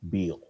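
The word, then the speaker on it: Biel: Her last name is pronounced Beal.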